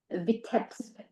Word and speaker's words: Vitebsk: depiction of his hometown in how do I pronounce it? Vitebsk.